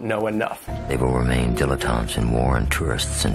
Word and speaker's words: dilettante: And this word has three syllables, and there's kind of like a stress on that first and last syllable, dilettante.